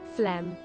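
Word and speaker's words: phlegm: I I need to listen to the pronunciation of this. Right. Uh, flem.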